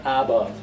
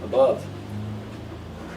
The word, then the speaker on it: above: The same problem arises with above. The a is not above, it's weak form, above.